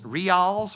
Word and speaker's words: Rials: And Rials. Rials, is that how you say that? Is this thing on? It's Reels.